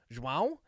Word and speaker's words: João: João? Yeah. Dude, come on. Wow. That's how you pronounce that.